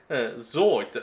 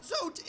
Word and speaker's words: Zote: Zote is a wandering traveler on a... Zote, that's how you pronounce the name.